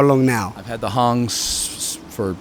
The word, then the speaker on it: Hang: This is a new kind of steel drum called Halo, and it's based on a drum that came out of Switzerland 10 years ago called Hong, spelled like hang.